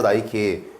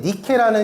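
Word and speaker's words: Nike: 브랜드는요 스포츠 의료기업인데 나이키는요 그리스 신화의 승리의 신을 승리의 신인 니케라는 신을요 영어식 발음으로 하면 그게 나이키래요 네 그래서 나이키라는 이름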